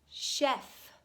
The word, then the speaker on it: chef: she is quite the chef you say it chef we get this word directly from the French so it doesn't make any English sense as far as how you spell it but give it a